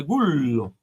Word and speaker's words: Gullo: En realidad, mi apellido está españolizado. En italiano se dice Gullo, porque mis ancestros son italianos.